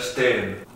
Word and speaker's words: stehen: Con ese T podríamos poner stehen, que significa pararse o estar parado. En este caso la H, al estar entre dos E, es muda.